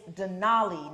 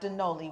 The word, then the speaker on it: Denoli: It is Denoli, not Denoli. We've been saying it wrong the whole time.